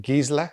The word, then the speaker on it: Gisela: Operation Gisela, or Gisela, whichever way you want to pronounce it. Gisela is the German pronunciation.